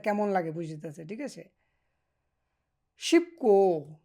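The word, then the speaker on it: 싶고: শিবকো শিবদা দা বাদ দিয়া গো বলবেন, শিবকো উচ্চারণ শিবকো চেমিসয় মানে সহজ এবং কি আনন্দ আছে।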